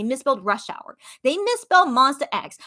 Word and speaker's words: Monsta X: rush hour they misspelled monsta x like you know how we always are like mad when people call them monster x instead of monsta x well guess what their